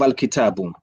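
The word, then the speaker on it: الكتاب: No, because al-kitabu has an alif after the ta. Al-kitabu. Yeah. And al-kutubu, there is no alif.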